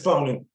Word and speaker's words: Bonin: Is it Bonin or Bonin? It's Bonin, yep.